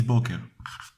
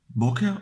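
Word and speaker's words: בוקר: Morning means boker, or boker. You pronounce it like so.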